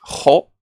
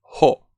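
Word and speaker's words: ほ: Recordad, españoles, esto va para hispanohablantes, que no es jo, no es el español jo, sino que es ho, ho, ¿de acuerdo?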